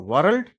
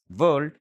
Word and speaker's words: world: సో వరల్డ్ is wrong pronunciation, world is correct pronunciation.